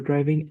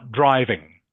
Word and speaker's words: diving: So it's scuba diving. Diving, Ding Ming. Can you Yes, say diving? diving. Yes, Yeah, diving. no, Yes. not driving.